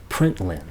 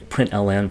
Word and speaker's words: println: learning Java I noticed most folks refer to this as println and then I read a textbook where the teacher very emphatically insisted that it must be pronounced print line' so i whatever anyway println print wind print line i'm cool with all of them nobody's going to misunderstand